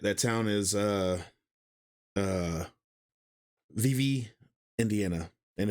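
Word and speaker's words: Vevay: Indiana and that that town is uh uh vivv Indiana and it's spelled v v a y and a lot of people come into the town and say Vive and that's not how it's pronounced however there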